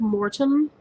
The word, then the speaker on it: Mortem: okay i also have mortem which i'm pronouncing it that way to emphasize that it's more tim and not more than mortem yeah it doesn't